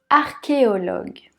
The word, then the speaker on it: archéologue: suivant ça se complique archéologue archéologues art comme le début d'architectes qui est oui ici ce n'est pas le son chaud mais que qui au log le u